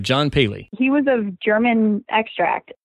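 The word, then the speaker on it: Pehle: carried them out yeah his name is actually pronounced Bailey it took me a while to baby it out yeah because it's not intuitive it's Peh le and it's pronounced Bailey Bailey all right John Bailey he was a German extract his father had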